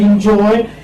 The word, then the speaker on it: enjoy: This is en, but you write here in, because the sound is in. Enjoy. You write ja, then oe, enjoy. Okay, this syllable is this is stress.